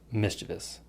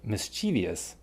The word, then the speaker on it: mischievous: channel, there may be a correct way to pronounce this word, which is mischievous. But so many people, including Lucy, say mischievous that pronunciation is acceptable too, because you have